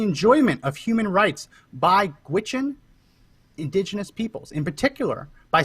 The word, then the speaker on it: Gwich'in: and informed consent of an adequate consultation with Gwich'in indigenous peoples. And I did look that up. That's how you pronounce it.